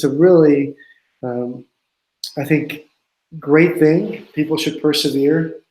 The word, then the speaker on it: Thync: can they do it our company think is spelled th YNC so we have a website